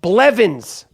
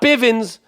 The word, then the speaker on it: Blevins: set this episode off Nicole Blevins not Bivens like my man Mike Bivins from a new addition Nicole Blevins if you